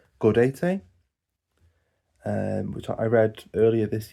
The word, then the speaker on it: Gaudete: And then Gaudette, or I think it should be pronounced Gaudete, which I read earlier this year and did quite enjoy.